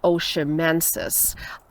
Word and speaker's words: oshimensis: is the same species I don't really know how to pronounce it but I think it's oshimensis so carrick's oshimensis I